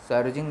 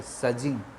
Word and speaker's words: surging: Father mother, a मैन इन द सज, इसका सज होता है, सज इसका प्रोनाउंसिएशन है SURGING, सर्जिंग, सर्जिंग नहीं है, सजिंग.